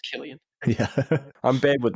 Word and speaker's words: Cillian: we can pronounce his name properly it's about cilian but it's pronounced killian yeah i'm bad with names that's fine i